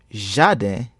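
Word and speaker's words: jaden: The Creole consonant G sounds like J in measure.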